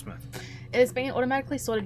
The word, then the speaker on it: Portsmouth: This database contains footage transferred from the existing homicide and serious crime tape archive at Portsmouth, not Portsmouth like some Americans would pronounce it. We're so smart. Portsmouth.